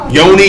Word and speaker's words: yoni: Yoni, Yanni, it's all the same. It's still spelled Y-O-N-I. And either way it go, it's gonna take you back. Pronounce it either way.